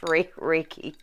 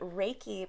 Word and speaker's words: Reiki: But I know, if anything, I know that it's pronounced Reiki.